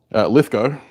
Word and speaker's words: Lithgow: Lithgow is how you say.